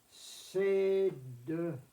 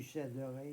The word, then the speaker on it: céderai: Les deux sont admis dans l'écriture. Évidemment, le je sais de ré veut dire que je prononce lourdement le D avec ce qui suit. Je céderai. À mon oreille, pas très joli, pas très acceptable.